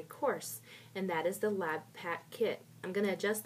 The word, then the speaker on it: LabPaq: and over again is the word lab pack l-a-b-p-a-q and so that's how that's pronounced lab pack and i wanted to